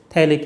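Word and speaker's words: phthalic: Group तब बोलेंगे इसको थैलिक एसिड। इसका पीएच साइलेंट होता है, इथैलिक नहीं बोलेंगे, लेकिन आप क्या बोलेंगे पीएच साइलेंट करते हुए थैलिक एसिड।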